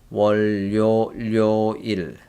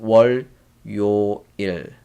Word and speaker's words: 월요일: Look, L sound go here. So 월, 료, 일. That's you will see a lot with other vocabulary as well. So 월요, so 료, I pronunciate just now L sound here. So 월요, 료일, not 월, 요, 일, but more like 월, 월요, 료, 료일.